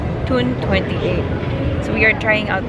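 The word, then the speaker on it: Toun28: We pronounce it as Tune. Tune 28.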